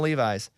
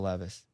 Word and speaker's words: Levis: okay and oh will levi's who by the way his name's will levis but i will levi's man tell him that's